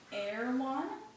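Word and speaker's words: Erewhon: w h o n try saying it backwards nowhere no yeah so it's kind of supposed to sound like that backwards um so it that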